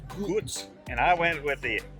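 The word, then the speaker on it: Gull: the a local beer gos g l but pronounced gos and I went with the Frozen slushie surprise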